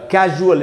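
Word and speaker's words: casual: फिर है दोस्तों कैजुअल इसमें भी वही हुआ।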